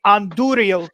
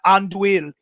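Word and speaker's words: Andúril: It is actually Anduril, not Anduil. So because of that, even though Jay did pronounce it almost correctly, we saw in his spelling he did not have the R. It changes the pronunciation.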